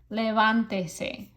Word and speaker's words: levántese: Your stress was already here. Levántese. So you want that stress on that syllable.